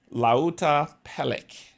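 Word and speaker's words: Lautapelit: going to play it the Publisher's name is pronounced Lait la pel la pel it means board games in Finnish laa pelic is the name of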